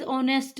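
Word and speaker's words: honest: Second ऑनेस्ट, कहते हैं ना ही इज ऑनेस्ट मैन। अब वो स्पेलिंग राइट करते हैं तब तो एच लगाते हैं, लेकिन उसको प्रोनाउंसिएशन करते हैं तब ऑनेस्ट बोलते हैं।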